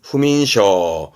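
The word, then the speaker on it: 不眠: 스이민에서 음은 민이에요 스이민 뭘까요 그렇죠 불면증이라고 불면증 발음은 후민 후민 동사로 쓰게 됩니다 네무르 잠들다 이거죠 네무르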